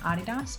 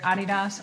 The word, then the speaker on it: Adidas: You'll hear me say either Adidas or Adidas because in America everyone says Adidas, but everywhere else in the world says Adidas because that's actually the correct way to say it.